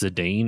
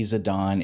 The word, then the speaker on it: Zidane: How do you for nine is do you pronounce Zedane or Zidon? I say Zedane. It's supposed to be Zadon.